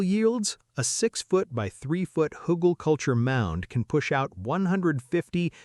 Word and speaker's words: Hugelkultur: Hugelkultur, pronounced Hugelkultur, is a raised garden bed built on a base of buried wood.